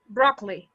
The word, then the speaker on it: broccoli: do you pronounce that broccoli probably broccoli broccoli is spanish broccoli exactly yeah because the stress is on the first one broccoli broccoli broccoli berkeley